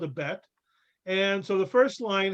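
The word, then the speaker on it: בית: How is that pronounced? B. B, like ball, right? So that's bet. It's called a bet.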